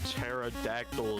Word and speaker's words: pterodactyl: Like what the do you mean pterodactyl is spelled like that? The P is silent.